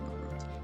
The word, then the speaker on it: Marud: That's how you say it, Marud. M-A-R-U-D, Marud. Like, you're rude.